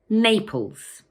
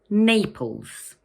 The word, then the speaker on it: Naples: It has two syllables, Naples, and the first one is stressed. So we say Naples. Once more, Naples.